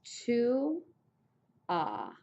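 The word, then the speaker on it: tu as: Okay, second person singular is to ah. The S is there, but you don't say it.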